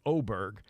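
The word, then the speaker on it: Åberg: win over ludvik oberg it's spelled a RG but that's oberg uh others who were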